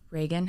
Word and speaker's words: Reagan: Yeah, it's Reagan. Okay. Like Ronald Reagan. So what do you get that a lot? Yes. Because it's the way it's spelled? Yeah, people call me Regan all the time.